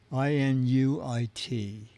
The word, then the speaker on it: Inuit: You know, chat room, I don't know how to pronounce it, but I assume it is a local native. It's Inuit. Inuit.